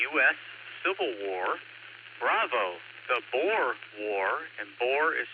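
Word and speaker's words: Boer: Possible answers are Alpha, the US Civil War, Bravo, the Boore War, which is spelled B O E R, or Charlie, the SpanishAmerican War, or Delta, World War I.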